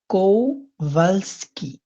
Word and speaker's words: Kowalski: ফ্রাউ কোভালস্কি। এই যে ডব্লিউর উচ্চারণটা Frau আপনারা জানেন, এটা Kowalski. বিয়ের মতো উচ্চারণটা হয়, কোভালস্কি।